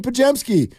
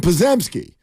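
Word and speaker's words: Podziemski: He got closer, but he called him Pazemski. There is a Z in there, but you're not going to pronounce it.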